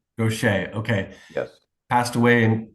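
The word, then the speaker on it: Gocher: When your drummer Charlie, and I'm not sure how to pronounce his last name, Gaucher. Gaucher, okay, Yes.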